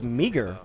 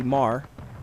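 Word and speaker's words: Meagher: See how that name is spelled right there? Looks like it's Meager, right? Well, it's not. It's actually Marr. That's how you say it.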